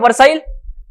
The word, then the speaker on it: Versailles: of Paris they know Treaty of Versailles versus Indian pronunciation Versa is the French pronunciation what is the first